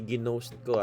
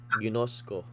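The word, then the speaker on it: γινώσκω: Hindi ginost ko ah. Yung ginost niya. Ginosco. Ginosco. Next.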